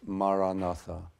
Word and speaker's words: Maranatha: So if you choose this word, Maranatha, say it as 4 syllables, Ma-ra-na-tha. Ma-ra-na-tha.